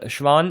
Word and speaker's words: Schwann: And Schwann is the name of a scientist, Theodor Schwann, so it's pronounced as a sh and not skv.